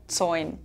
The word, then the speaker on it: zoin: Here you see the phenomenon again that the "L" sometimes becomes a vowel in our dialect, in this case "zoin".